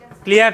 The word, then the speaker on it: chole: দেখেন একটা শব্দ আছে কোলে, CHOLE, কোলে। কোলে কোলে মানে কি? কোলে নেওয়া। কোলে উচ্চারণটা কি হবে? কোলে।